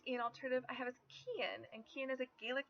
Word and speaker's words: Cian: I, of course, think Cian would make a great Ian alternative because they're only one letter apart in spelling and pronunciation.